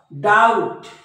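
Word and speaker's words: doubt: मध्ये बी सायलेंट असतो टी च्या अगोदर आलेला बी नेहमी सायलेंट असतो बघा डाऊट डाऊट डाऊट म्हणजे या बी चा उच्चार नाही याला डेप्ट नाही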